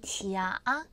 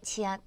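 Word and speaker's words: 假: 지더 이렇게 나왔습니다 왜냐면 자 형용사로 쓰 때는요 발음이 지아 삼성으로 들어가요 지아 가짜를 을한다 지아 그다음에 명사로 쓰일 때는 휴가 가짜라고 해서 지아 성이에요 하작 그러면 더 울었잖아요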